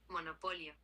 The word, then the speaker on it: monopolio: In Spanish, monopoly is monopolio.